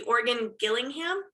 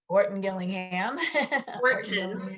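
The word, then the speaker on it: Orton-Gillingham: um obviously they use the um i always mispronounce it the organ gillingham orton gillingham gillingham methods and what i remember were they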